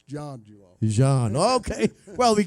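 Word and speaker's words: Zhang: again too long but it is spelled z-h-a-n-g I'm like him I thought it would be Zayn but it's John he's John okay well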